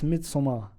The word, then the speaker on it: Midsommar: Midsommar. No, you said it differently. It's Midsommar. I like that. Yeah, that's how it's said. That's how it's said and how it's spelt as well.